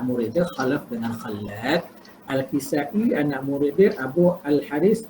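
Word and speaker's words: Al-Kisa'i: Cara baca dia Kisai, bukan Kisai ya. Al-Kisai.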